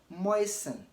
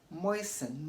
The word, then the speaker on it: moisten: listen listen not listen also moisten moisten not moisten moisten not moisten okay if